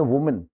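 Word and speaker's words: woman: है इसमें ई तो एक औरत को बोलते वुमन छोटी की मात्रा है अगर ज्यादा औरत हो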